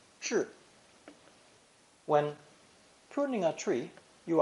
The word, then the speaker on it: 制: It's pronounced fourth tone, zhi, zhi.